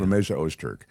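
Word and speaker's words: Rümeysa Öztürk: name, the Tufts University doctoral student, is it Rumesia Ozturk? Rumeysa Ozturk. Yeah. Rumeysa Ozturk.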